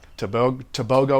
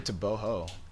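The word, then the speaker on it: Tebogo: Like Tobago or anything like? It's actually Toboho. Toboho. Yeah, you don't pronounce the G as a G, you pronounce the G as an H.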